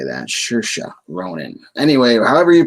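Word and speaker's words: Saoirse Ronan: like 20 minutes earlier today learning how to pronounce this name i'm probably going to still screw it up this is shersha ronin shersha ronan yeah that's why i'm pretty sure how you say that sure ronan anyway however you pronounce it uh she's a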